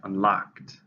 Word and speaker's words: unlocked: 2 syllables, stresses on the second, unlocked.